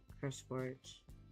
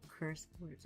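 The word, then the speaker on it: CurseForge: Sometimes it's easier to find some of his stuff on Curse Forage. Am I saying it right? I'm saying it wrong, isn't it? Yeah, Curse Forge.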